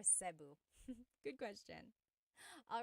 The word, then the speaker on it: Cebu: So, technically in the Tagalog alphabet, the letter E can be pronounced E or E like the letter I. So, I say Cu. Cebu. And I know some people say sabu, but usually it's either ceu or sebu.